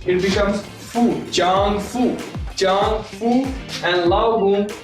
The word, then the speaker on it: 丈夫: In Chinese, ZH is pronounced as ch, and it is chang. If I put F and U, it becomes fu, chang fu.